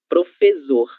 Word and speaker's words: professor: Professor, exato. Em português é preciso que nós tenhamos 2 letras S entre vogais para que esse som S ele aconteça, ok?